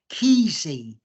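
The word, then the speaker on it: Kesey: a guy called Ken I think you pronounce his name keezy and I've read one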